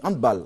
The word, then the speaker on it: handball: Oui, handball. Il faut dire handball. Ouais. C'est une prononciation. C'est plutôt allemand. Allemand. Non anglophone. Non. Voilà, c'est pas anglais. C'est pas anglais. Donc faut plutôt dire handball.